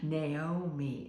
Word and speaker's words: Naomi: And the name of his wife was Naomi, or in Hungarian, it is Noemi. Naomi is how we pronounce it.